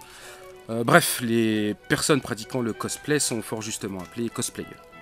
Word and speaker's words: cosplay: Le cosplay, ou cosplay, quand on le prononce à la japonaise, est la contraction de deux mots anglophones.